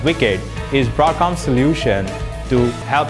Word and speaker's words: WICED: connectivity for embedded devices spelled w-i-c-e-d and pronounced as wicked is broadcast solution to